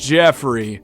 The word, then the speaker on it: Geoffrey: Well, it's spelled Geoffrey, which is a weird way to spell Jeffrey, but still pronounced Jeffrey.